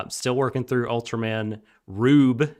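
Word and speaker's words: R/B: still working through ultraman rube it's how they pronounce it in the show but it's spelled r slash b uh it's not spelled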